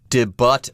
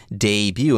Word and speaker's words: debut: debut yes it's not did but or D but or anything like that pay attention to the pronunciation here it's French the T is silent it is debut and yes a debut